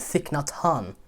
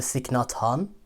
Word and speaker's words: Thich Nhat Hanh: it accept it and thick not han i believe his name is pronounced a very famous buddhist